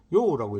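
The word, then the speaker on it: 右: 바로 요우라고 읽습니다. 있다라고 하는 요우하고는 같은 발음 같지만 성조가 다릅니다. 어 있다라는 요는 3성이고 오른쪽이란 이거는요 이건 4성입니다.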